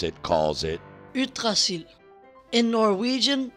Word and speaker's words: Yggdrasil: Yggdrasil, or as my Danish son who can actually pronounce it calls it, Yggdrasil. In Norwegian, Yggdrasil.